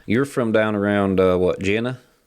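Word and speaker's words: Jena: Gina. Gina. Yes, sir. Or Gina, Louisiana. That's how you pronounce it.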